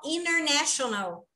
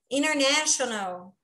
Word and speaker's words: international: Geralmente, o N antes do T, quando vem N antes do T, o T ele não é pronunciado. Olha que interessante, é igual international, intermediate. International, né? Muitas vezes a gente não ouve o international. Por quê? Porque o T ele é omitido.